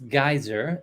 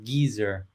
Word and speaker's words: Geyser: a hard one because in American English it's Geyser in English in English British English it's geezer all right yeah well